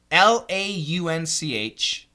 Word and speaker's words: launch: was an o w law is an A W launch not a j but a CH the J is vibrated the CH is not lunch uh short u